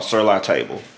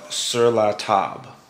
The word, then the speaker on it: Sur La Table: to what i'm sure 99 of you call sirloin table and i heard it pronounced one way once before and i couldn't